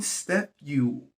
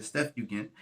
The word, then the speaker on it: Septuagint: The name Septuagint, I want to pronounce that right. Follow me here. Septuagint.